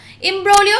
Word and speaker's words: imbroglio: not rarity okay next imbroglio Umbro you the G is silent here imbroglio is a noun and